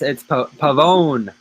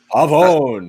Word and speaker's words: Pavone: Pavano and Pavano. No, it's Pavone. Pavone.